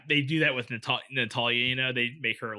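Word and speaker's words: Natalya: the top yeah wait am i saying it wrong as a natalia natalia i was saying natasha well i think it's a tall yeah natalia you're right yeah but yeah with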